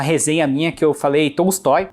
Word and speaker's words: Tolstoy: tsoy ela tem razão no Russo a sílaba tônica o O Vira a quando não é tônico então fica tsoi mas ninguém fala taoi né E a mulher